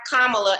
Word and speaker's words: Kamala: we right now have kamala in office and i want to encourage people to say her name right spell the word comma and then say love right so kamala because i'm not even going